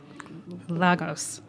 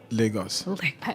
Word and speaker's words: Lagos: Portuguese so I'm sure Lagos is maybe highest pronouncing in Portugal but it's Lagos where we are from Lagos yeah Lagos okay